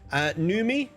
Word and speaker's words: NVMIE: Numi, the U spelt with a V, NVMIE. Numi is an early supporter of my channel.